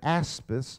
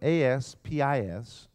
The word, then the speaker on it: aspis: a shield the first word is the word aspis spelled ASP is and this word aspis describes what most of